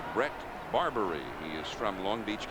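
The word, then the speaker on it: Bret Barberie: Now we're told that uh the proper pronunciation is Brett Barbari.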